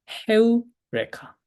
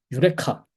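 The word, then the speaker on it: εὕρηκα: 헤우레카라는 말은 다들 사실은 알고 있는 말인데 유레카 그 아르키메데스였나? 아르키메데스였는지 그 수학자가 뭔가 발견하고 나서 이제 뭐 발견했다라고 외쳤던 그 말 있죠. 그게 사실은 유레카는 이제 영어식 발음인 거고 헤우레카예요.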